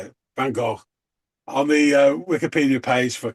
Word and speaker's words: Van Gogh: from the Netherlands, and it is Van Gogh, which rhymes with Loch. Some people say Van Gogh with like a double F, but the Van Gogh pronunciation is just terrible.